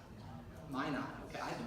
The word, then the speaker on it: Minot: This is for Mino Airport. I have no idea where it is, but that's what it is. There it is. Minot, is that how it's pronounced? Minot, okay, I can pronounce that.